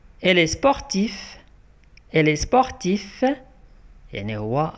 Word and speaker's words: sportif: Elle est sportif. Elle est sportif. Yani huwa riyadi qui imers riyada. Le mot d'accord n'a qu'un sportif. Se prononce avec F à la fin ou quand on a F.